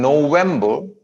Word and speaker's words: November: No को लंबा खींचना आपने. N as in November. N as in November. Yes. तीनों सिलेबल अलग अलग पढ़े जाएंगे. November. Okay. N as in November. N as in November. N as in November. November नहीं, अभी गलत आया है. Vam कर रहे हैं आप. November. Okay. Vam छोटा रहेगा, बर भी छोटा रहेगा.